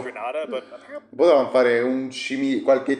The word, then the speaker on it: Grenada: So, I think it's pronounced Grenada, but apparently potevano fare qualche cimitero, no? it's Grenada.